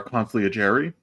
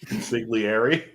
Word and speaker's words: consigliere: We have the editor-in-chief of the Strickland himself, Alex Wolf, and then we have our consigliere, right? Isn't that how you pronounce it? Consigliere.